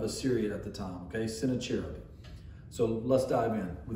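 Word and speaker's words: Sennacherib: one is sent a cherub and i say sent a cherub and since i'm reading the lesson what i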